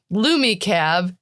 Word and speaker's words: LumiCab: The professionally casual crew of Lumi Cab TM copyright pronounced LumiCab.